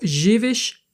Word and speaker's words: živiš: So, and you can see that the S with the symbol, like the upside down roof, is sh.